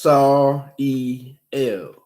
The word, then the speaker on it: Sariel: And thus he shall be called Sariel. Note at the bottom, pronounced Sar-E-L.